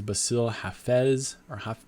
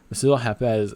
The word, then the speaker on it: Bassil Hafez: Up the card, we have Jack Della Maddalena versus Bassil Hafez, I think is how you say his name.